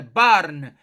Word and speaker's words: barn: barn o pronúncia retórica repare o r puxado é barn barn vem equivalente a little